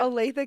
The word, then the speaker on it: Olathe: Olathe, Kansas.